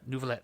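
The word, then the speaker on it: Neuvillette: Nouvelet, thank you. I knew it was French, and I was nervous about trying to pronunciate it. So Nouvelet, who's again, he's got just insane numbers for his kit.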